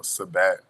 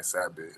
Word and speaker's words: Sabat: but I lowkey like how sabat was like pronounced instead of saying sabit so I took the